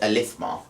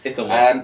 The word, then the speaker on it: Ithilmar: As a James says that Elithmar. Elithmar, is it Elithmar? Just gets it completely. I was trying to remember how he pronounced it. No, it is a Thilmar. Ithilmar.